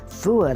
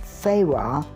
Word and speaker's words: Fewa: the price of a delicious traditional meal fooey lake actually pronounced Farah Lake is quite enjoyable there are paddle boats